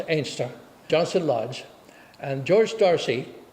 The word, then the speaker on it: Anstruther: George Darcy, living in Anstruther, well, pronounced Ainster, Johnson Lodge.